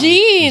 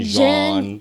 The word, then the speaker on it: Jean: Jean, John. Everything Yeah. different. It's actually just Jean.